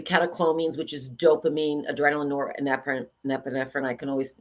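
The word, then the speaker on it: norepinephrine: serotonin um the kacin which is dopamine adrenaline orep nephrine I can always not pronounce that very good how do you how do you say it nor epine nor epine friend yeah Gaba and then the endorphins right those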